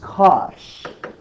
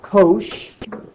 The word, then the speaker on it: cosh: is hyperbolic cosine and that is cosh not kosh gosh hi so combinations of